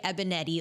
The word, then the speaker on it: Banietti: I am so excited to be here today with one of our brand new pro trainers, Banietti.